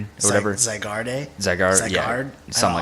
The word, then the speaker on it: Zygarde: What is the Z Pokemon that didn't Zygrade or whatever? Zygarde. Yeah, something like that.